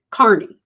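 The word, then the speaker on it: Kearney: guy named Aiden Kierney Kerney I think is the way he pronounces it Carney actually and he goes by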